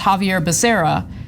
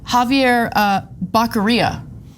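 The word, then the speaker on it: Javier Becerra: cabinet right Javier Basera uh his name is pronounced Javier Basera he recently called him Javier uh bakara Jesus Christ okay I it's just but it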